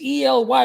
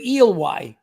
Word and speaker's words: Ely: Oh, it's Ely. We pronounce it Ely.